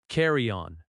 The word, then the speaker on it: carry-on: Carry-on. Carry-on. The stress is the first word.